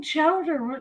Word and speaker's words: chowder: This is not clam chowder. You are blind. I know I'm from Boston, but I don't eat clam chowder. She doesn't eat clam chowder. Chowder. That's how you say it in New England.